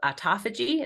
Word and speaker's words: autophagy: that now we've discovered called autophagy is that how you say it yeah that's it okay I said it right um and it's